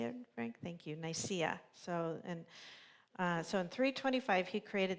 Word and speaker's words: Nicaea: Thank you, Nicaea.